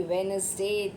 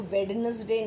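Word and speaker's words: Wednesday: तो जैसे Monday, ट्यूसडे, वेडनेसडे, Thursday. देखो वेडनेसडे नहीं कहते हैं ना, डी साइलेंट होता है। वेडनेसडे, Thursday, Friday, Saturday, Sunday.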